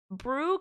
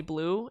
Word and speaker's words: Brue: Um, and so brew kind of sound, you know how like L's in Japanese are pronounced like Rs? Well, that's kind of like I think that's why a lot of people call me Blue.